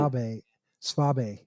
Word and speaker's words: Saab: gonna run um Schwab uh actually spab as I finally when I was over in Germany they told me how to pronounce it nice say that again Saab Saab Saab all right